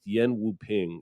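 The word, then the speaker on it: Yuen Woo-ping: want to correct myself i threw out a sloppy americanized pronunciation but it's yen wu ping is the choreographer yeah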